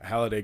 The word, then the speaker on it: Halliday: His name's spelled with an A, and like it's like hall, like a hallway, Mm-hmm. and then a day, right?